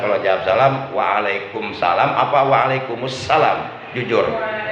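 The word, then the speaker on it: وعليكم السلام: tangan] Waalaikumsalam ada kalau jawab salam waalaikumsalam apa wa'alaikumussalam jujur Waalaikumsalam ya itu alasannya dihilangkan Coba lihat tulisannya Tulisannya Waalaikumsalam kalau dewasa jadi wa'alaikumussalam jadi di kalimat assalamnya ada alif lam syamsiah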